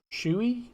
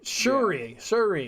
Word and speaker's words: Shuri: It's so like Shui? No. Yeah. In a way, but you have to like hit the R, so it's like Shuri.